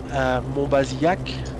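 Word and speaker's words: Monbazillac: who try to know how to say it, Montbazillac.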